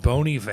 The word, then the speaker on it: Bon Iver: Actually, it's pronounced Bon Iver.